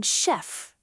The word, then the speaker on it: chef: If a word looks modern French, elegant, food related, fashion or art related, ch often sounds like sh like in chef, machine, brochure, chandelier.